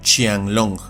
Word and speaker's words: Qianlong: origen chino, y aquí la pronunciación de la Q es como una CH española, con lo que un género como este se pronuncia y castellaniza como Qianlong.